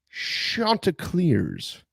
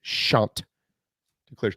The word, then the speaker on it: Chanticleers: Joe Cashion, voice of the Chanticleers. For those of you that have just moved to the great state of South Carolina, that's how you say it. Chanticleers.